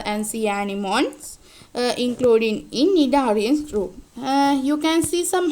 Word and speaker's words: Cnidaria: We don't say C. C is the silent letter, that is Cnidaria, not Cnidaria.